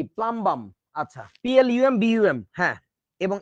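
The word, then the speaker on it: plumbum: হ্যাঁ, তো এসে বলতেছে, দাদা দাদা পুলুম্বুম কি? পুলুম্বুম কি? পুলুম্বুম আবার কি? দেখি প্রশ্ন দেখা তো। পরে দেখি যে প্লাম্বাম লেখা। এইটা পুলুম্বুম কেন বলতেছে? কারণ ইউতে তো আমরা উ উচ্চারণ করি।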